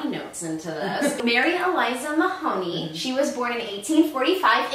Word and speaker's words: Mahoney: her name is mary eliza mahoney and i keep wanting to say my honey because it's spelled m-a-h-o-n-e-y yes i want to say my honey so bad but it's not it's mahoney and you can look